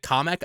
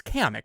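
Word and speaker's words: Kamek: Um also the guy he pronounced it comic. I think I'm it's kamic, right? It's kamic. We all agree it's pronounced kamic.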